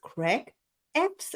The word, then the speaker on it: Creg Effs: name is Caroline and my today's guest is Craig EPs and I hope I pronounced your name right how are you doing